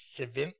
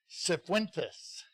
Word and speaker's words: Sentes: last name Daisy s sentes centes so the C is pronounced and the I is not learn something every day centus is awarded this certificate